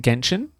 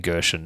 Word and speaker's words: Genshin: And so we're going to do Genshin Impact. Yes, is it Genshin? Genshin. I keep saying Gershon. Yeah, you say it wrong every time, and I didn't want to correct you because I was hoping you'd go first.